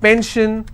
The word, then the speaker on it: pension: If I have pension, I will stress on pen.